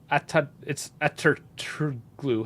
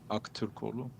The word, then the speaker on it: Aktürkoğlu: It's Ataturkoglu. How do you say it? Ataturkoglu? Did he score? I don't know. Aktürkoğlu.